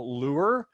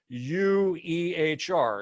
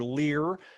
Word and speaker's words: Luehr: Most people get that wrong. It's Luehr. It's not EU, but UE, right? And they go, well, oh, I'm sorry, Mr. Lear.